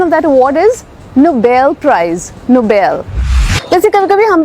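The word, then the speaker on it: Nobel: confused हो जाते हैं कोई ना एन ओ बी एल ई ये वर्ड है नोबल मतलब कि अच्छा काम ऑनेस्ट काम ब्रेव काम और एक वर्ड है एन ओ बी ई L price जो इंटरनेट ेशनल प्राइज है इंटरनेशनल अवार्ड है दैट्स नोबेल किसी को नोबेल प्राइज मिला उसे नोबेल प्राइज नहीं मिला हां शायद उसके नोबेल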